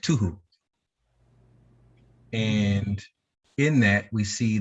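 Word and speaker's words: תֹּהוּ: So this is the first one, and it's pronounced tuhu.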